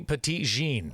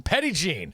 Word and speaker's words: Petit Jean: are so what about the petite jean no pettit oh see i said it wrong again okay eddie gene petty gene so i got some